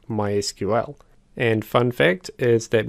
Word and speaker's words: MySQL: For example, MySQL is pronounced as MySQL, whereas Microsoft SQL Server is pronounced as SQL Server.